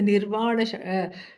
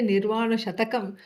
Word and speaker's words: Nirvana Shatkam: Some people don't know how to pronounce. They say Nirvana Shatakam. Shatakam means 100 verses. No, no, no. There's only 6 verses. Okay. And so Nirvana Shatka. Shatka means group of 6.